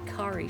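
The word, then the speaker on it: Kari: who spelled it k a r i and pronounced it Ki and I remember she was elated that I said Ki she's like yeah nobody ever says Ki they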